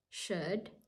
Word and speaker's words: should: w should and could the L is silent we say would should and could just with would and